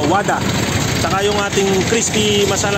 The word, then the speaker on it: Vada: yung ating Wada ah Ang spelling niya Vada pero It's pronounce sa Wada saka yung ating crispy